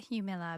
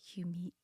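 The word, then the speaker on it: Jumilla: the Hugh Miller region now I said that Hugh Miller because that's what it looks like when you read it or spell it Emily its J um I ll a I have a suspicion that it's probably Hugh me like you mean yeah because the Juelz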